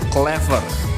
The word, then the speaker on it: clever: Kemudian yang ketiga ada kata very clever ya. Dalam pengucapan British accent, di situ di akhir kata clever ya, huruf R-nya menghilang ya. Kalau untuk American accent, dia huruf R-nya tidak dihilangkan.